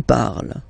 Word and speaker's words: parles: So you've got the two first forms, you pronounce them the same way. You write them differently, of course, because you've got here, and then you've got and s, okay, but then phonetically they are the same.